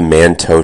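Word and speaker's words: Mantoux: I wanted to talk about the manto test. And this is spelled m- an o ux.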